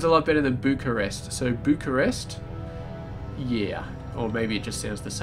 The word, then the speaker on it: Bucharest: And apparently you pronounce it Bucharest. Bucharest. I think that's right. So Bucharest. It's definitely not Bucharest. Bucharest is definitely bad, so Bucharest.